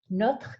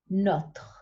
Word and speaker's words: notre: Notre can be tricky to say, so I always tell my students to put the t with the first syllable, not, and then worry about the separately. Notre.